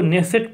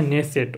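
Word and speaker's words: Knesset: तो नाइ क्वेश्चन है देखिए इसको इस को नेसेट पढ़ा जाएगा क्या पढ़ा जाएगा नेसेट इसको नेसेट पढ़ेंगे ओके यहां पर देखिए के जो है साइलेंट है ये है नेसेट ओके और ये नेसेट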